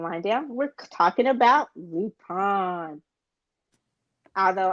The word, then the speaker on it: Lupin: Although I'm still going to say Lupin because it sounds weird to me saying Lupin because I'm not French. You got to say it the way that it's supposed to be said.